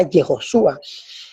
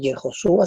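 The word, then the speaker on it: יהושע: Aquí tenemos la palabra Yehoshua. Esta es la forma como se escribía antiguamente Yeshua. Entonces, Yehoshua se escribía así y tenemos la palabra Yeshua.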